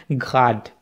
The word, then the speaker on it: Grad: अब याद रहे यहाँ पे कि ये जो GRAD है इसको आपने ग्राड नहीं कहना, क्योंकि ग्राड जो है ना वो आर, ये जर्मन की एग्जैक्ट प्रोनंसिएशन नहीं है, ये स्ट्रॉन्ग आर है, ठीक है, ये रोलिंग आर नहीं है, तो इसमें आपने इसको ग्राड कहना है, ठीक है, तो आइन होनर आक्सिश ग्राड।